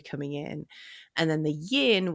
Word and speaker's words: yin: in and then the yin which is rhymes with dim and that's how I